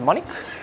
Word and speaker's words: monic: You hadn't had to pronounce it. Monic?